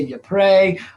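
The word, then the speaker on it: Ypres: battle of eep uh that battle gets pronounced diff differently uh from depending on you know who's talking about it it's actually you know in belgium uh they they say the french say you pray uh the americans say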